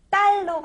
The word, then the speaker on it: 딸: 그런데 발음을 조금 더 정확하게 해야 될 것 같습니다.이 아이는 제 달이에요가 아니라이 아이는 제 딸이에요. 딸로 발음을 해서 한번 더 해 볼까요?이 아이는 누구예요?이 아이 제 딸이에요.